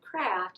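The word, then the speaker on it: Creft: Kraft, and that's spelled C-R-E-F-T. For a long time I thought it was C-A-R-A-F-T because everybody pronounces it Kraft.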